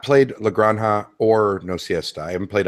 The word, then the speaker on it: La Granja: sure i was still pronouncing it lagrangia and getting dirty looks from people that's how that's how